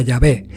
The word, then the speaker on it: Yahvé: que puede ser pronunciado la pronunciación más correcta sin embargo sería llave un antiguo texto y